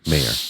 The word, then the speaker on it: Mayer: Mayor like John Mayer.